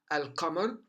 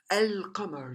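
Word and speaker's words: القمر: as shams as shams on the other side you find al come on al come on you find you can hear me saying or pronouncing the lamb and comer very easily pronounce it and there's no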